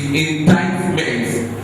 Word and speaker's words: indictment: N-D-I-C-T-M-E-N-T is indictment. Again. Indictment. It's not indict. The C here is not pronounced. So not indictment, but indictment.